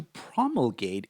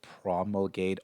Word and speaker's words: promulgate: You could promulgate also certain ideas, and this verb is pronounced with stress on the first part.